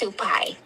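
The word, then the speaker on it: Supay: Is it pronounced kind of just like it sounds? Yes, it's Supai. Oh, okay. See, I would say pay. So it's more like Pai. Okay. Yeah, it's like pie.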